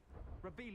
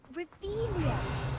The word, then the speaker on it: Revelio: Rebellious. You're saying it wrong. Ugh, Revelia. Much better.